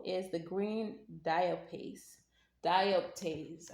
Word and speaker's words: dioptase: the green dial paste dioptase I think is how you say it so something painful is